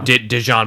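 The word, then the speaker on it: DeJean: It is kind of like Dijon, but it's not spelled Dijon. It's spelled like Deshaun.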